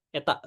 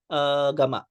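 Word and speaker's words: Γ: Nah, return loss rumusnya adalah minus 20 log eta. Ini dibacanya sebenarnya ini gamma ya. Gamma kapital, bukan gamma yang kecil.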